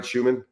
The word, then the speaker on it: Schuman: And once again, Coach Schuman, did I pronounce that right, Schuman? Yeah, yep.